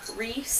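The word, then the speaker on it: Rhys: been saying it like rice & M and it wasn't until I finished the book I found the glossary at the back that specifically says you pronounce it like Reese and um that I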